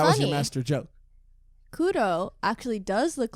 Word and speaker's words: Kuro: I'm going with Kuro, just because I was told about this from a Japanese person. That's how they told me to pronounce it.